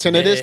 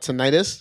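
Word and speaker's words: tinnitus: hate it but it's it's pronounced tenus not not ttis tenus yeah say dude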